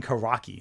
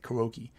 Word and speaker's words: Kuroki: I was saying Karaki. Like, that's not, it's like Kuroki.